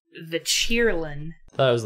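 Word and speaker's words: Qilin: Yes, but it's in a different language, so the Q is pronounced in the English word as a ch sound.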